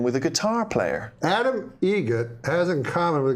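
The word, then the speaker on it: Eget: Adam Egret. Egret. Spelt differently. Like the bird. That's Egret. Do you know what Adam Egret has in common with a guitar player? Adam Egret has in common with a guitar player.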